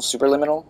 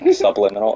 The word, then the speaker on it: Superliminal: we're playing soon lemon super liminal super liminal right i always say it wrong subliminal because it is subliminal but it's super limitless it's not a real word so you know just